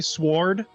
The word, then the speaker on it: sword: The W is silent. I love that was your He- parting words. You realize if he stopped saying sword, we might get like our follower count cut in half.